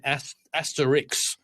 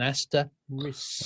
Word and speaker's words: asterisk: They say Asterix, and I said, well, no, that's like the cartoon Asterix and Obelix. It's but it's one. No, it's an asterisk. Ah.